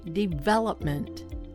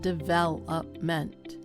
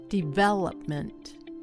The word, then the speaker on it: development: Say development, not development. Development.